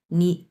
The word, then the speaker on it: 你: এরপর বলছে কি, নি নি জন্মা জেদাও থা লাইলা, নি নি হচ্ছে এখানে 2 নম্বর টন হবে, উচ্চারণ করতে হবে 2 নম্বর টন, কারণ এখানে 3 নম্বর টন আছে পাশাপাশি আরেকটা।